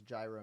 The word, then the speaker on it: gyro: Well, yeah, you're saying it wrong. Say it with the G.